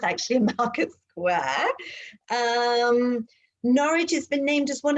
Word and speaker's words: Norwich: got it is it nourish right yeah it's norwich as in porridge oh that's funny thank you for that one night says no no you've got the first syllable completely married think porridge oh funny okay okay